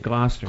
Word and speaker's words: Gloucester: We have to take a road trip up to Gloucester, Massachusetts. That's how you say it, Gloucester.